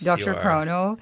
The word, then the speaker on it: DrChrono: you've had quite a journey with am I pronouncing it right Dr Crono yes Dr Crono yes you are uh to your new Venture